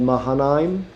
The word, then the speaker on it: Mahanaim: So 5 years into the Civil War, Abner finally gets Ishbosheth, takes him to a town called Mahanaim, as far as I know, that's how you pronounce it, and he had him crowned king of Israel.